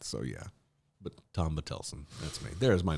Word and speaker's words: Bottelsen: is spelled b-o-t-t-e-l-s-e-n and I don't care how you pronounce it if you've been calling me bottles in the whole time I'm absolutely fine with that so yeah but Tom butelsen that's me there's my